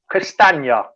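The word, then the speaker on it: Castagne: grace just put up a comment come jamie pronounce castanya so there you go gray castana let me say yeah oh castanya's easy he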